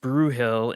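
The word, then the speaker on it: Brühl: Brule uh pronounced Brewill in English is a town of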